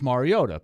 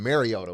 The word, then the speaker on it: Mariota: three four years he'll call him Mariota wasn't it a lot of guys or or I mean announcers guys or girls reporters whatever would say Mariota it's like it's not Mariota they do the same